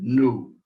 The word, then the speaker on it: nu: n a new so think of mu and then new not new is in something new but new uh moo